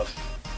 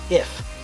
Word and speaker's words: IF: confused um no it's both letters pronounced as I f like you're literally spelling out to work in her